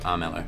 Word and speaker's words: Armello: Trent kusters he's showing me his new game arelo that's you pronounce it right yep Aro so this is the first screen that we